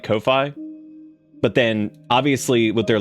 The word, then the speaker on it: Ko-fi: Do you want it to be Ko-Fi or do you want it to be coffee?